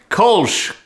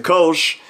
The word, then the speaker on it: Kölsch: And one of them is the Kölsch, or the Kölsch, and the teacher had the slide on the board, and it said, pronounce the O like in Biff, and I was like,